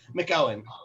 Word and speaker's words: McOwen: What's the correct way? McOwen. McOwen.